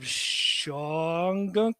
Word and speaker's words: Shawangunk: So they've got 36 acres at the foot of Shawangunk Mountains. Did I pronounce that right? Shawangunk, yeah. Shawangunk. Okay. Shawangunk. Yep.